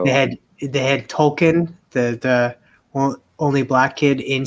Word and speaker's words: Tolkien: You know how like they had Tolkien, the only black kid in South Park, and they were like they went on and saying like, oh no, it's pronounced Tolkien, like from J.R.R. Tolkien, not Token.